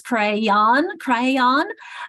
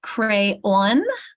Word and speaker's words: crayon: Is it more like the red was crayon, or is it crayon, or is it where it rhymes with dawn?